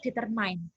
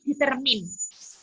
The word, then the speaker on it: determine: saya itu selalu membaca determine. Padahal cara membacanya adalah determine.